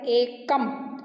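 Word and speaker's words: एकम्: तो आपको इसका प्रोनाउंसिएशन एकम करना है, एक म ऐसे नहीं बोलना है, एकम।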